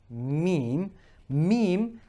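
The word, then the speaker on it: ميم: The difference with ba and meem, meem, I like to call it its smaller sister. So meem, just like the M in English, it's when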